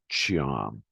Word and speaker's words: Tom: One is first of all, you're changing the T in Tom to CHY, so it's Chiam.